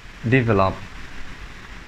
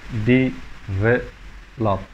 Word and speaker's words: develop: Finally, we have develop, develop, develop, not develop.